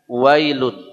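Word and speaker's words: ويل: auzubillahiminasyaitanirjim Bismillahirrahmanirrahim ayat 1 bunyinya wailun ya kebanyakan kita wa ya wailu tidak wa tapi Ya seperti tulisan dalam bahasa Inggris w Ay W ya bukan W tapi Wai ya kemudian wailuliulli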